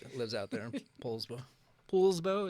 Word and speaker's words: Poulsbo: Poulsbo, is that how you say it? Everybody says Paul, but it's not Paul. Paul.